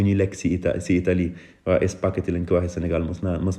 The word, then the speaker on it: spaghetti: nii quoi spaghetti waaw su fekkoon ne binduma ci h prononciation bi dina doon spaghetti parce que gis nañu tamit ne ji bu fekkee ne dafay ànd ak e wala i dañ ko prononcer j waaye bu fekkee ne dañ koy boole ak h prononciation bi dafay doon g kon spaghetti waaw ji bu